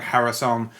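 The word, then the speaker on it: Haruson: We had a Hebrew sounding name that was actually ecclesiastic Hebrew from the 9th century and it's spelled H A R U S O N which sounds like Harrison in the northern dialect as it was centuries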